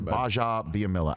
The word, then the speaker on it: Gbajabiamila: take care that's akbar baja biamilla at akbar understore underscore baja which is the it's the silent g everybody silent g g-b-a-j-a on both twitter and